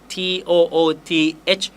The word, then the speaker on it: tooth: ว่า ฟัน นะ ครับ ออก เสียง Tooth แล้ว ก็ เอา ลิ้น ดัน ฟัน บน toth อ่า เพราะ th จะ เป็น เสียง ประมาณ นี้ นะ ครับ แล้ว ก็ อีก